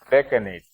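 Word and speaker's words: decanate: That is on the use of Gresh Kona or Deccanate. Is that how you pronounce? Deccanate.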